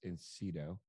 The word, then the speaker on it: Incedo: kiosk all week and i'm going to mispronounce insido you nailed it joe all right super